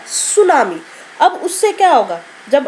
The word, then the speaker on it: सुनामी: अब ये शब्द है, यहाँ पर देखो ये शब्द है सुनामी, यहाँ पर टी साइलेंट है बेटा, ठीक है, सुनामी।